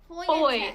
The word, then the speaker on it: Fojtek: How do you pronounce it? It's Fojtek. Woi. Fojtek. Foy. Foil. Foy. Fojtek. So Yeah, Fojtek? Fojtek. There you go.